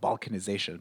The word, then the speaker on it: balkanization: So, for instance, in politics, if you say there's a lot of balkanization, people can't reach agreements and ideas don't converge. Balkanization. Pay attention to the stress pattern as pronunciation matters.